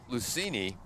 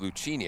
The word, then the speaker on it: Lucini: This is number 21 coming into pitch, and that's the left fielder, Matt Lucini. I was pronouncing it Lucchini. I was corrected by the Franklin coaches.